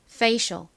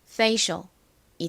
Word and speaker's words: facial: 그래서 연결하면 한국식으로는 페이셜 그리고 미국식 원어 발음으로는 f를 세게 쌍비에 가깝게 발음해서 facial facial이 됩니다. 발음 연습 같이 해 볼게요. facial facial 좋습니다.이 단어는 화장품에서 자주 볼 수 있는 단어인데요.